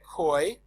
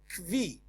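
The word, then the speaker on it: כוי: Some say koi, Ashkenazim say kvi.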